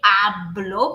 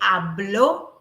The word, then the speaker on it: habló: But if I add the mark, if I add the stress, if I highlight, I mark the stress on this letter O, and I say hablo, I'm saying a different thing.